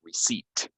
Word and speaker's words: receipt: word is receipt it has a silent P we do not say the P so get that out of there right so maybe you're